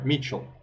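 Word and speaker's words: Mitchell: Человек, который тоже участвует практически на многих компетишенах, Михаэль или Митчелл, наверное. Митчелл правильно читается.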